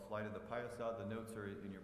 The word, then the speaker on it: Piasa: Flight of the Piasa, and that's how you pronounce it, Piasa. Say it with me, Piasa.